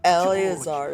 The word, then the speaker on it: Eleazar: Oh, Eleazar is how you Glad pronounce my it, rather not cryptic Alazar.